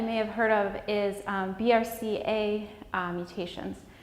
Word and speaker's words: BRCA: have heard of is BRCA mutations sometimes pronounced Braca and cancer risk so